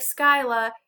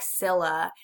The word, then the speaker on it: Scylla: Monster 1 is Scylla. Looks like Skyla. You say it like Scylla.